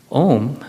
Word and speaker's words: Om: Om, as you heard, has three parts, but they're actually four syllables. There's three syllables. Excuse me. Three syllables and four parts. It is broken up into three syllables. Aara, uk, and makara.